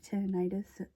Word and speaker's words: tinnitus: I have tinnitus.